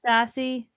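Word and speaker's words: Kérastase: for They're Kerastasi. Oh, okay. They're How do you- promoting How do something. you They're pronounce not this? Kerastasi.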